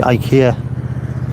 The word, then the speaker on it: IKEA: The IKEA tidy up commercial. IKEA, it's IKEA, isn't it? So the adverts say. We're not going down that route. IKEA. Although my Swedish mate go apeshit. Don't pronounce it like that.